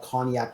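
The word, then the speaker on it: konjac: Um, one of my favorite late night snacks is something called cognac jelly. It sounds like the drink, but it's not the drink. Koggnac is spelled K O N J A C.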